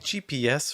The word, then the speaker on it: GPS: take gps for example the stress is on the s so that's the part you want to hold longer and have the higher pitch on the gp is not stressed so we're going to say those two letters a lot faster it'll take an hour